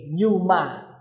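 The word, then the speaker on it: pneuma: P n e u m a numa.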